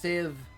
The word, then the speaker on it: sieve: Pronounced sieve, sir.